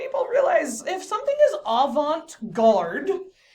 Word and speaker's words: avant-garde: So I'm going to make you say avant-garde.